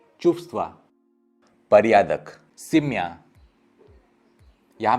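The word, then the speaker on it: чувства: यहाँ पे आप व कभी भी होल प्रोनाउंस नहीं कर पाएंगे, तो सिर्फ एक हवा निकलेगा, चुफ्स्वा।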